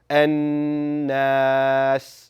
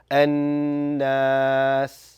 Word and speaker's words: الناس: Ensure that it's being held in your nasal passage for 2 counts. And that is whenever the letter Noon has that W on it, that strong sign, that shaddah, right? So it should sound An-Nas.